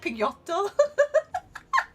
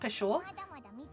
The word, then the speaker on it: Peugeot: It's spelled like, almost like Pigotto. So I just think Pigotto whenever I read it, and it's Peugeot, but it's like supposed to be pronounced Peugeot.